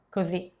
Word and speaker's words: così: So like this or like that will be così, così, with a final accent on the letter I, così.